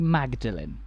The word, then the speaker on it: Magdalene: why are the two pronounced differently well the pronunciation when the church was built was generally magdalene but when model in college was founded a